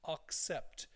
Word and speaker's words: accept: tend to sometimes they accept it and over pronounce the a like an O so accept so while I accept that